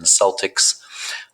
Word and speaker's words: Celtic: They're the Boston Celtics, but the actual proper pronunciation is Celtic.